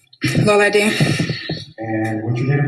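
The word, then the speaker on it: Lolade: Lola D.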